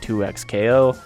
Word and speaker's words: 2XKO: one of my recent videos saying it wasn't pronounced 2x KO it very much is from the literal mouth